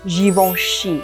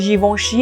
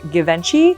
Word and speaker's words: Givenchy: This brand is pronounced Givenchy. And why is it Givenchy as opposed to Givenchy? Well, the G in French is pronounced like a J.